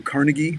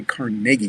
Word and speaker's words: Carnegie: century ago andrew carnegie people call him sometimes andrew carnegie well it was actually carnegie because he was scottish and that's the way they pronounced it but andrew carnegie would go out and